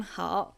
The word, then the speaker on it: 好: 好, good. Third tone. 你好吗? 我很好. So when 好 has a third tone, it means good.